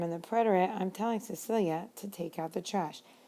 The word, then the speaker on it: Cecilia: Cecilia is how we pronounce the name. And I use this name deliberately because I want to point out what happens to the sound of the C next to the letter E.